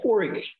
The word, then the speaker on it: KORIQ: actually engaging but um corey korr yes i realized that it is pronounced the same as your your first name yemen but what's up